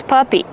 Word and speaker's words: puppy: How do you pronounce puppy? Puppy. Use the short uh sound like cup and up. P-pup. Puppy plus the long e sound like green beans.